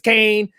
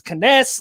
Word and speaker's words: Cannes: know if i'm not maybe it's kane maybe it's cans maybe it's canes let me know let me know down in the comments if i'm pronouncing it right but i looked up on google said it was can and fast nine is